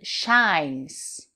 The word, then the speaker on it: shine: The sun shines. Quelque chose qui brille. To shine. Shine. Donc c'est une diphtongue, c'est ouvert. Shine. On enlève le E muet de la fin.